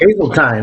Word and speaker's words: Hazeltine: It's Hazeltine, rhymes with Hazeltine. Oh, okay. Thanks, Jay. Rhymes with pine, and hopefully we don't end up in the pine.